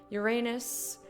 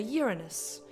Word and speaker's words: Uranus: Uranus. This, or as the British say, Uranus.